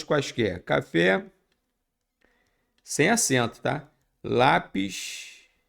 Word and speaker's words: lápis: Repare que a palavra aqui não é lápis, lápis. Ah, pega o lápis para mim. Sim, lápis. Então a sílaba tônica é o lá.